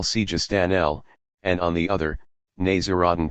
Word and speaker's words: Sijistani: There is, on the one hand, Abo Yaqub al-Sijistani, who, following the Persian pronunciation, we will call Sijistanel, and on the other, Naziruddin Tosi.